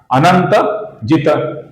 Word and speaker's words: अनंतजित: अब यहां पर जो अंतिम त है ये त अपूर्ण त है, किंतु ये पद के अंत में आया हुआ है, इसलिए हम इसका लगभग पूरा उच्चारण करेंगे। पूरा उच्चारण भी नहीं करेंगे, अर्थात तो ऐसा पूरा उच्चारण नहीं करेंगे और तो ऐसा पूरा अपूर्ण उच्चारण भी नहीं करेंगे। हम लगभग पूरा उच्चारण करेंगे, अर्थात अनंत जित, अनंत जित, अनंत जित।